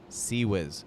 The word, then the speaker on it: CIWS: The MK-15 Phalanx CIWS, pronounced "sea whiz".